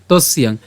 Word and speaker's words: তস্যাং: Year মতো হবে, এবং ইয়র সাথে আকার এবং অনুস্বার যদি আমরা উচ্চারণ করি একসাথে তখন তার উচ্চারণটা হবে কেমন? তস্যাং।